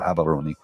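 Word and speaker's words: Gaborone: live in habon Gabon it's spelled Gabon g a b a r o n e but they pronoun gabs are or habon and that's where most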